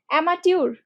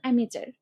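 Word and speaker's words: amateur: এটার উচ্চারণ কি বলতো? অ্যামাটিউর না, এটার উচ্চারণ অ্যামেচার, অ্যামেচার। বাট বানানটা কিন্তু টোটালি ডিফারেন্ট।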